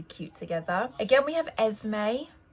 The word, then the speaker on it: Esme: Again, we have Esme. I think it's a little bit easier because the S is kind of pronounced like a Z, Esme.